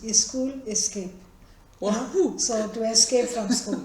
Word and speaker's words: SchoolScape: the name Schoolscape also, the way we pronounce it in Indian languages is school escape.